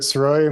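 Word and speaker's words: Sirois: the record yes sir my name is ceroy my last name is spelled s-i-r-o-i-s what is your current occupation I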